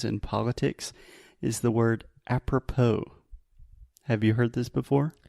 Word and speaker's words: apropos: politics is the word apropos have you heard this before no so if something is apropos and we write this with an S so a p r o p o s if something is apropos